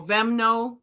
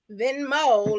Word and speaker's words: Venmo: cash app Zell or vemno is that how you say it them no no venmo like give us some Mo yeah it's at um